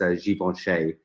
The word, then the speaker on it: Givenchy: i think the the the correct way to pronounce it is givenchy which of course in the west we just say davinci like and the animals yeah